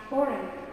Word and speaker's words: foreign: The G is not often or pronounced when followed by an N, so we say champagne. And foreign, not foreign, these things.